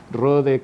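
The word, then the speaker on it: Rohde: Rode, como es H muda y no se queja, no la pongan en cualquier lado, va después de la O.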